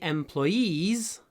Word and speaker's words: employees: это one of my employees is a former soldier. Ударение на последнем слоге. Employees. Employees. One of my employees. И не надо сказать employees, а employees. Просто сделать супер длинный звук в конце.